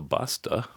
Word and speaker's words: Basta: My guests today are and Basta. Sounds like or rhymes rhymes with pasta.